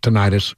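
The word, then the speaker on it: tinnitus: tenus they call it some people call it tenius we we learned the other day the correct pronunciation of the word is tenus yeah whatever whatever I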